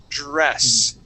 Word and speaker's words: dress: well as TR uh remember class when you pronounce a d and an R you want to uh create one sound instead of saying d s okay you want you want to uh uh it's going to be one one sound together Dr dress dress that's